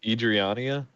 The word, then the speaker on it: Adriana: all right gee perfect Perfect combo and that's pronounced Adriana okay you already knew this you're the only